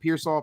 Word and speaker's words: Pearsall: And so if Ricky Pearsall, am I pronouncing his name right? Is it Pearsall?